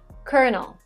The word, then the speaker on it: Colonel: Basically, if you Google Reddit, says that it's just because this word was borrowed from French. So the way it is written has nothing to do with the way it's pronounced. Colonel.